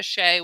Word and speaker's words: Xie: That's Linda Shea, which is spelled XIE.